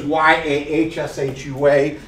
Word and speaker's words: Yahshua: Now, look, we're trying to make known not just that his name is Y-A-H-S-H-U-A and it's pronounced Yahshua. Some people say that our whole focus is physical letters, Y-A-H-S-H-U-A, and how it's properly pronounced.